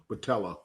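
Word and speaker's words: Botelho: Here it is, Jordan Battello. Thank you, Reggie. Jordan Batello.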